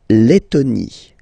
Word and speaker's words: Lettonie: So remember when you've got this E and then a double letter like that, T, T, okay, then you will have to open your E and it will become E, le, Lettonie.